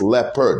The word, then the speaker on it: leopard: But the truth is, there are only two syllables in the word leopard. It's leopard. It's not leopard.